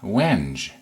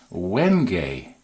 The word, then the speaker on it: wenge: II and in my mind I was saying when JH but I wasn't sure so I didn't actually even try but it's actually pronounced wenge no I'm thinking to myself if I didn't